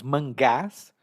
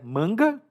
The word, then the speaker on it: mangá: ou seja a os mangás são muito populares também e aqui observe a pronúncia mangá não é manga mas mangá o Gá é a silaba acentuada a manga você come